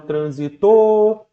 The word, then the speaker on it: transito: ela é atônico beleza agora já na palavra transito Você não vai falar olha o trânsito você vai falar olha o transito Ok então você consegue observar que a sílaba tônica recai exatamente aqui na segunda sílaba beleza e aí você